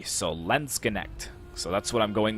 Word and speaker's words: Landsknecht: And I was pronouncing them Landsknecht, but I found a pronunciation that seems to lean more towards Landsknecht. So basically pronouncing almost all of the letters except for the last E.